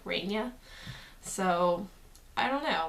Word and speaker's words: Raynia: really either name but my full name now is ray Nia and that's how you pronounce it how thing I've noticed